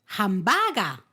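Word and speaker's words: ハンバーガー: Una es hambagu. Hambagu y otra es hambaga. Hambaga. O sea, uno acabado en u y la otra ha acabado en a.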